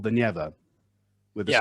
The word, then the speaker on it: Neva: Petersburg is called the Neva. with the Yeah, stress on right. the first syllable.